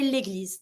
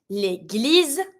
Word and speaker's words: l'église: You know that when you have an S between two vowels, the S is going to be pronounced like a Z sound. When you have the double S, like the one we saw earlier, double S, S sound. One S between two vowels, Z sound.